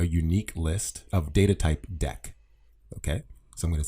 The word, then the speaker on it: deque: actually says it's pronounced deck i know it doesn't say that here but if you go to the python documentation it says that and think of it kind of like a deck of cards it's like an optimized